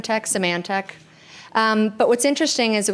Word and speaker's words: Symantec: Veritas was then sold to Symantec, which I constantly mispronounce. Symantec.